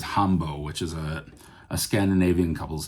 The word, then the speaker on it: Hambo: So the Oulu Hotshots are playing this tune, and in the track listing it says Hambo, which is a Scandinavian couples dance.